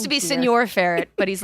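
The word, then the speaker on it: Señor: even think you notice also John's pronunciation of Senor is hilarious because he keeps calling it senior fret so it's just an old ferret he's like senior feret it it's supposed to be Senor it's supposed to be Senor faret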